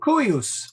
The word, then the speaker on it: cuius: So cuius, cuius. Now that's actually a short I. So you try and make it a short I, but I think it's going to come out as a long I no matter what you do.